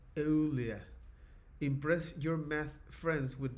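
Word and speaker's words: Euler: Ear is pronounced oolia. Impress your math friends with this knowledge. Olia.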